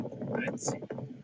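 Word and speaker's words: Ötzi: So I started trying to call him Utzi, and that's a lot closer to the pronunciation. But the native tongue, the locals, this is how they pronounce the Iceman's name. He's called Otzi.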